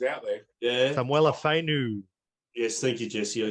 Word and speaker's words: Samuela Fainu: Samulia Fenu, if that's how you pronounce it. Big T. There's hard bloody names like Tino's There are names. some hard names out there. Yeah. Samuela Fainu.